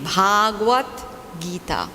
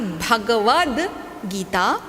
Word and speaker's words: Bhagavad Gita: we get to that i want everyone to pronounce the name of this shastra properly many times we have people saying the bhagavat gita okay bhagavat bhagavat is different okay so please